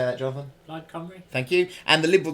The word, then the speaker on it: Plaid Cymru: Plaid Cymru.